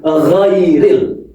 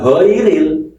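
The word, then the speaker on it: غَيْرِ: Ghu ghairil bukan giril ya. Kalau giril nanti salah lagi.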